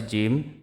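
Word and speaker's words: ج: দাতের agar সঙ্গে লাগান সা সা তারপর আসি জিম জিম উচ্চারিত হয় জিহিববার মধ্যখান তার বরাবর উপরের যে তালু সে তালুর সাথে লাগাইয়া জিম উচ্চারিত হয় জিম জিম জি জিম জিম তারপরে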